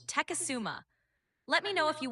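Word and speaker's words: Tecumseh: It's pronounced Teasuma.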